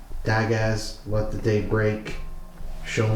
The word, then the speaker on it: Dagaz: Isn't it just pronounced da in case I get roasted? It's d a g a z.